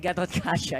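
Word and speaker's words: Gatotkaca: In the previous game, he was the Diggy, and this time around, he's the Garot Kacha, if I pronounce that correctly. And again, Gatot Kacha.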